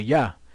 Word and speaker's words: Yah: pronounced it with a yeah and you pronounced it correctly yeah why because of the fact that there was no J's in the Hebrew I mean yeah there's